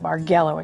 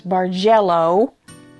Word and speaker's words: bargello: a bargello quilt no not bargello it's barello and it origin ated